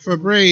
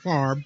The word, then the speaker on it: Favre: Fabry is how he pronounces his name. It's spelled like Brett Favre, but that's why I went Favre. But Fabry is how I choose to pronounce his name.